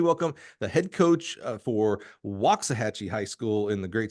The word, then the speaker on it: Waxahachie: Help me welcome the head coach for Woxahhatchee High School in the great state of Texas, the wise, the wonderful, Miss June Villers.